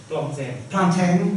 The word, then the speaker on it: Plantin: Christophe Plantin, I don't know how to pronounce his name. Plantin, thank you.